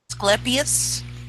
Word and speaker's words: Asclepius: sorry is it pronounced Asclepius well whether you want to use a hard C or not semantics sweetheart well it's